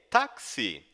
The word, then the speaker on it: Taxi: Hey, Taxi! Isso mesmo, a pronúncia de táxi em alemão é igual ao nosso táxi no português.